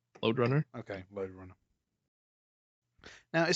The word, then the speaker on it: Lode Runner: Runner yeah load Runner that's that's how it's pronounced load Runner okay load Runner now it says here licensed